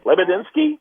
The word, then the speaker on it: Lebedinsky: that's uh how how do how do we pronounce that t lebedinsky yes hey not bad that's what you get